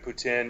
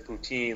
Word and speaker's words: poutine: about Tusk was that Johnny Depp says poutine like an English guy. And French people don't say it like that. They say poutine.